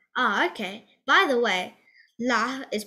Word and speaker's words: Lha: okay by the way la is pronounced with the letter h coming before the l i don't know why